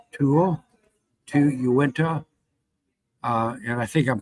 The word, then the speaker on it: Uinta: Pete, Sevier, Summit, T, Tool, Uinta, and I think I'm pronouncing that correct, Uinta, Utah, Wasatch, Washington, Wayne, and Weber.